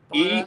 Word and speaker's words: Enagbare: Igubana or Igubara. Enagbare. I can spell it because I'm a writer.